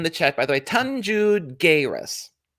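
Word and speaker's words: Tanxugueiras: chat by the way tanju guerras tanju guerres is how you pronounce it jairus i don't speak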